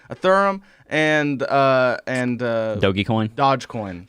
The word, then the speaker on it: Ethereum: even heard of was a a theron how she pronounced it ethereum and uh and uh